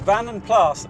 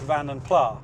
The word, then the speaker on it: Vanden Plas: of debate over it but van and plus originates from the Flemish speaking part of Belgium so pronouncing the S should be correct I was probably yesterday years old when I stopped calling it van and Pla so who were van